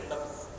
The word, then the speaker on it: نبض: ہیں ان کو بھی نبض کہتے ہیں نا۔ حکیم صاحب نبض دیکھ رہے ہیں، ہم لوگوں کا صحیح تلفظ تو نہیں، یہ نبض ہے، نون با ضاد۔ ایک ہے نبض، نون